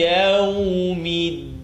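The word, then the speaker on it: يَوْمِ الدِّينِ: Maliki yawmiddin. Try not to say deen, duh. Bring your tongue to behind the top two teeth.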